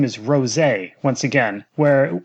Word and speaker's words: Rosé: And I mean, Nozawa is saying rosé and not rosu.